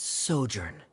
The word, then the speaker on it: sojourn: everything clear uh director's osimos how do you pronounce this word let me see Ah that's sojourn it means to stay for a while this